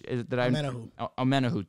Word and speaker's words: Omenihu: They go and they add, if I mispronounce his name, I apologize, Charge Omenihu from the edge. Omenihu, thank you.